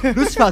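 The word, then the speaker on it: ピエロ: ああ、厳密しピエロと書いて、ルシファーって読むんですね。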